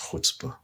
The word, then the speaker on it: chutzpah: There's a word maybe that I will use is called chutzpah. Chutzpah. Chutzpah. CHU. Yeah. TZPAH. Okay. Chutzpah. It's pronounced chutzpah.